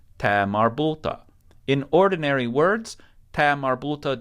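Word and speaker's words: ة: buta in ordinary words Tamar buta just sounds like an A sound sometimes it will be pronounced as if it were a tat but we're not going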